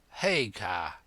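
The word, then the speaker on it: Haigha: when he's happy his name's his name is hagar he pronounced it so as to rhyme with maya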